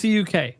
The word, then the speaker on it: CUK: It's CUK. That's how you pronounce it.